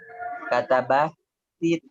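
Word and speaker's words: كَتَبَتِ: Kata batit ini dibaca kasroh ya, bukan fathah, atau ini kan sukun. Ini kan sukun. Katabat atau libatu ad-darsa. Jadi ketika dua sukun bertemu selain mim yang menjadi kasroh.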